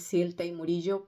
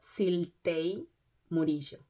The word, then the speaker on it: Siltei Murillo: Bueno, hola mis queridos amigos, mi nombre es Siltei Murillo para los que no me conocen y para los que ya me conocen pero todavía no saben cómo pronunciar mi nombre. Otra vez se lo repito, Siltei Murillo.